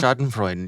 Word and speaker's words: Schadenfreude: I'm not going to, I don't know, how do you pronounce the word? Schadenfreude? Schadenfreude, yeah.